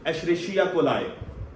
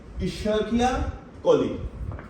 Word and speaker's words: Escherichia coli: Now some people, they pronounce it as Escherichia coli. Wrong pronunciation, right? Correct pronunciation is Escherichia coli, right?